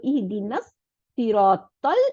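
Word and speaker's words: اهدنا الصراط: ওয়ার্ডটা ডবল হয়ে যাবে, লামটা গিয়ে মিলে যাবে, তাহলে সদের সাথে এই নুনটা জয়েন হয়ে যাবে, তাই না? তাহলে ইহদিনাস, দেখছেন কত সুন্দর, ইহদিনাস সিরাতাল, আবার দেখেন তটা লামকে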